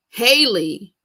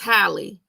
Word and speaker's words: Halle: So today's topic is all about, I've been calling her Haley. Y'all gonna say it's Halle.